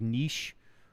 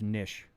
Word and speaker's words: Nisch: Appreciate the uh just to make sure because I people call me like niche or niche and it's actually just nish like a fish.